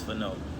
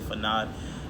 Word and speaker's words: Fano: They always say Fanad, and my name is Fano. You know, it's like you had Feno, but Aud.